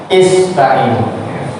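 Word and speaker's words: اسْتَعِينُوا: Hamzah wasol itu kalau di tengah-tengah dia nggak dibaca, tapi kalau dia dipotong atau di awal kalimat terbaca ya ista'inu. Karena kalau nggak begitu gimana bacanya? Terus langsung kan nggak bisa. Jadi harus alifnya itu harus dibaca kasroh. Ista'inu. Apa artinya?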